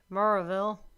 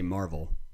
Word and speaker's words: Maryville: rolls off your tongue like people say mauraville and i've now i just say marvel marvel you just say marvel and you sound the way it sounds to you or it's spelled on a piece of paper maryville that's how it is but it is not the other way but people give you all kinds of it's marvel so anyways in al